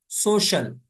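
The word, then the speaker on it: social: करना कोसना या लानत अगर सी के बाद ई ए या आई ए हो तो कभी भी कभी कभी-कभी उसका तरफ शीन होता है जैसे सोशल आई ए आई ए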